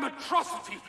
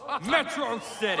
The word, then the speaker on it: Metro City: This is a day you and Metrosity shall not soon forget. It's pronounced Metro City.